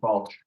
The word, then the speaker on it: Balch: Is it Balch Field House? That's correct, Balch.